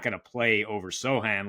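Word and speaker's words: Sochan: the new Ro Jeremy so soan excuse me silent h over seven and a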